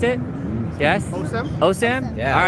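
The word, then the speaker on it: OSIM: best thing oh Sam is that how you pronounce it yes oh Sam yeah all right we are at the world's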